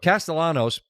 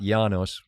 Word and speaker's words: Castellanos: And what Castellanos with pronounced with the L's, not Yanos, right?